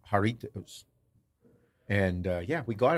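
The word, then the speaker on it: Jarritos: so I call it jarit that's what I was gonna say I said that on the video and they're like a the J is silent it's pronounced with an H haritos haritos yeah kind of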